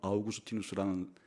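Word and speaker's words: Augustinus: 들어갈 수 있는 사람이 영어 발음으로는 어거스틴, 라틴어 발음으로는 아우구스티누스라는 초대 교부예요.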